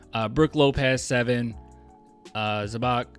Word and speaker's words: Zubac: Brook Lopez seven uh zabach uh I could never say his name right but zubac zubac I think uh seven nerkish seven